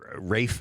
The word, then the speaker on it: Ralph: Rafe Fiennes is how you pronounce Why does he spell it like that?